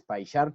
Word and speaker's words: PyCharm: Es importante que lo pronuncien así en inglés, PyCharm, porque si no suena maluco.